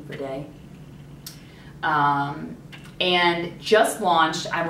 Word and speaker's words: Verde: uh Nest fragrances ver Verde I think that's how you say it v e r d e ver day um and just launched